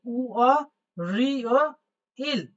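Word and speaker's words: 월요일: উ নামক একটা স্বরবর্ণের সাথে অ নামক একটা স্বরবর্ণ যুক্ত হয়েছে, তাই উচ্চারণ হচ্ছে উ অ, উ অ। আর রিগুলো উপরে উঠে গিয়ে হবে রি ও, রি ও। যেহেতু ওখানে আছে ই ও, তাই হয়ে গেল রি ও, রিও। ঠিক আছে, তাহলে উ অ রিও ইল, লাস্ট হলো ইল।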